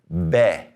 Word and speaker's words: be: The B is called B.